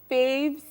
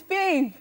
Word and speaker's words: Fave: out my socials are fave season the season is spelled s ZN and it's fave not fa I will not allow you you will not be permitted to call me five outside I'll remind you